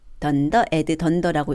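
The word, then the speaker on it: __add__: 던더, add, 던더라고 읽는데 덧셈이겠죠.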